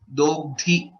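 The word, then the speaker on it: दोग्धि: Basically, dogdhi, dha is mahaprana again.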